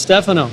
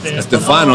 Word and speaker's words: Stefano: Stefano is the American way. So it's not actually have an accent on the E, but doesn't exist in the keyboard in English.